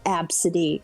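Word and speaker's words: Abcde: is a b c d e but it's pronounced abcity like it is the fucking like there is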